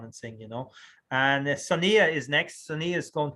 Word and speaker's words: Sonia: No, I just heard Sunia. I said, who's Sunia? How do you pronounce your name? In the pronunciation. Sonia.